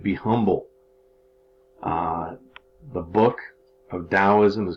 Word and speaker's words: Taoism: is the next philosophy now Taoism can't be pronounced with a D like I just had Taoism or Taoism with a T all right Taoism was